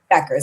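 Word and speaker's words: Bueckers: We love Yukon in this family, but I also just am very very obsessed with Paige Beckers, Bukers. I'm not exactly sure how to pronounce Beckers.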